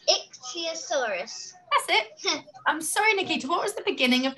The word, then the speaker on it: ichthyosaurus: ixyosaurus it's really hard isn't it yeah it's ixyosaurus that's it i'm sorry nikki what was the